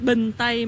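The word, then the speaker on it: Bình Tây: Binh Thai Market.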